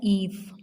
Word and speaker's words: Eve: So the E of Eve should be capital and it is pronounced like Eve.